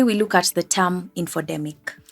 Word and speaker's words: infodemic: look at the term infodemic from the sound of the name which rightfully rhymes with the terms pandemic or epidemic an infodemic occurs when